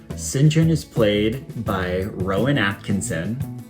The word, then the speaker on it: St. John: the play's main character, St. John Quartermain, although it's pronounced Singhen. Singinjun is played by Rowan